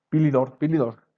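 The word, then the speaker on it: Philidor: Dani, aún me cuesta un poco de trabajo pronunciar su nombre, Dani Pilidor, así se le pronuncia, el campeón de la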